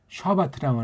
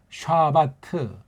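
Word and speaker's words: שַׁבָּת: 이게 원문 발음으로 샤바트라고 해요. 샤바트.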